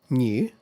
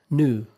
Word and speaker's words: new: So British English, the pronunciation usually includes y sound. In American English, however, that sound is not really there.